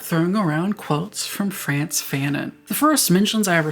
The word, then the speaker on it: Fanon: His name is a dude talking about violence, has a name that rhymes with cannon, and that would mean he is simply waiting to appear in a Hamilton-esque musical. Imagine the Lin-Manuel Miranda Fanon.